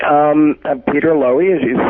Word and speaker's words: Loewy: Loewy, we pronounce it?